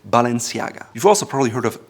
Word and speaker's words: Balenciaga: It used to be Spanish Balenciaga with a TH, but today it's French owned and they prefer to say Balenciaga.